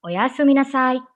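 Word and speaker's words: おやすみなさい: You can say it in a sing-song way. That's the beauty of Japanese. You have to say it like as if you are singing a song.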